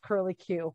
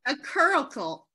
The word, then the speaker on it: curricle: I always look at it and I read it as curly Q, which is not right. And I know that. Is it a curricle? Curricle.